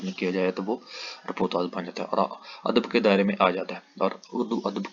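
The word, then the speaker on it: reportage: سے ایک رپورتاز ہے۔ یہ لفظ فرانسیسی زبان کے لفظ رپورٹیج سے لیا گیا ہے جس کا تلفظ رپورتاز ہے اور جو انگریزی لفظ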